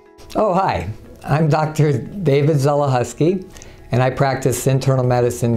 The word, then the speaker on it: Zelechoski: David Zelechoski, and I practice internal medicine here in Evangelical. My name is pronounced Zelechoski. The C is silent like the P in swimming.